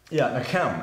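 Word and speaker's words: נחם: There's no real way to spell it because it's... Right. You know, it's Hebrew. Right. Right. But, nakem.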